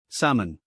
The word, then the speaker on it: salmon: The L is silent. We say salmon.